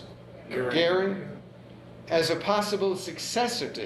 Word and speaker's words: Göring: He still had some hope in Göring, or Goering, how would you pronounce it? Goering, as a possible successor to Hitler.